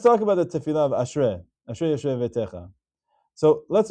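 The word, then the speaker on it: אַשְׁרֵי: So there, because it's preceded with a Tenu'ah Ketanah, it's read as Ashrei.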